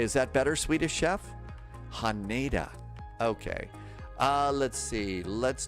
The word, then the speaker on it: Haneda: Uh Swedish chef, it is pronounced Hana, not Hanita, Hanada. It would be more Hanada.